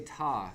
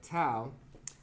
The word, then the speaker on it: tau: So there are two ways of pronouncing the Greek letter ta or tau. And I've typically used ta because I was in, I guess I think you're like a life member, I don't know. I was involved in the Engineering Honor Society, ta beta pi. And everybody in that calls it ta beta pi instead of tau beta pi. So that's why I use this pronunciation.